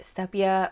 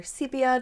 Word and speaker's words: sepia: next next we have pilot sepia or sepia depending on how you wish to pronounce it and I think this